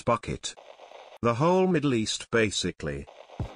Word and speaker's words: Bucket: accessories on public transportation pronouncing your last name as bouquet evo its bucket the whole middle east